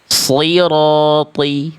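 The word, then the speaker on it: صراط: Maka yang shad dan th ini tebalkan. Angkat pangkal lidahnya ya. Coba ikuti saya. Sirati coba. Sirati itu ya. Yang itu ya, Nak. Nah, itu bagus. Jadi, si ro th tebalkan semuanya ya.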